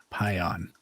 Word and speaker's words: Payan: I'm going to say this is Payan, and her podcast is called Planted with Payan. Is that how I pronounce everything? Payan. Payan or Paya? Payan. You got it.